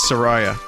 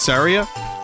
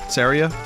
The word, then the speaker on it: Saria: I think the key to all this is Saraya. That's how I pronounce it. Saria? Saria?